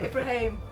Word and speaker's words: Ibrahim: 197 circus 75 1975 there's a song on it called Mustafa soon must I pronounce my name oh okay I always say people go listen to that album that's how you pronounce my surname oh Ibraim Ibraimbra